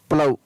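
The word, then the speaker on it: plough: तो OU के बाद में यहाँ पर भी GS है, और GS का उच्चारण नहीं हो रहा है। फिर है BOUGST, बॉट, BOUGS, बाऊ, PLOUGS, प्लाऊ।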